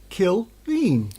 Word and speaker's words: Killeen: It is pronounced Frank Killeen. Killeen.